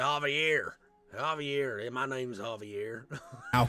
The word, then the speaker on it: Javier: He keeps mispronouncing Javier. His name is Javier.